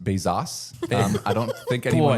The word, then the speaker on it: Bezos: Um, it's actually pronounced Bezos.